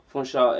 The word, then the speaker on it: Funsho: So it's just Funsho, Funsho, but it's just Funsho.